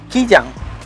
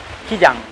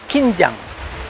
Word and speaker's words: Kijang: the colonial times, so our colonial masters couldn't pronounce kijang. So they said kim jang. Hence the name stuck. So it's now the Kim Jang waterfall, but it's actually Kijang.